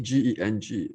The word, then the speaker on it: Geng: We call it Geng, G-E-N-G, pronounced as Geng.